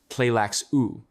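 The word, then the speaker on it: Tleilaxu: The Benet Pleax or Tleaku, pronounced pleax u are the masters of biotechnology.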